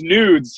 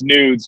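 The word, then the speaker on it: gnudz: or whatever so it's nudes yeah the g-n-u-d-z the g is silent but yeah everyone calls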